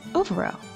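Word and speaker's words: ámharach: In Irish, you say lucky as overo.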